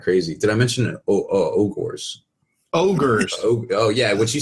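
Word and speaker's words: Ogor: Ogres. Oh yeah, what you said. I feel like I can help with the Ogre situation here. Hodor. Yeah. It rhymes Ogre. It rhymes with Hodor.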